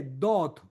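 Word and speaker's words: דוד: Y aquí en el original no dice David, dice Dot, que se escribe con las mismas consonantes de David.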